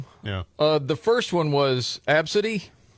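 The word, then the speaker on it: Abcde: Uh the first one was Absidy. Mm, no. There'll be no Absidys. Just spelled a b c d e, but you PRONOUNCE IT ABSIDY.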